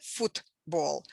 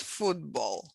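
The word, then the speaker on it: футбол: back and voiceless so voiceless consonant before the voiced becomes voice two so we pronounce it not football but football uh there are examples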